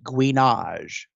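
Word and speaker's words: gouinage: It's called guinage. It's spelled G-O-U-I-N-A-G-E, guinage.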